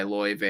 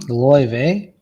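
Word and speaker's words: Laufey: there is emerging jazz artist who goes by L ve if you haven't heard her you should look her up um lve lve it's spelled l a u f y it's spelled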